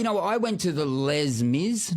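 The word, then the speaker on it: Les Mis: Well, you know, I went to the Les Miz. Not Les or Lay Miz. What is it? Le Miz. Yes.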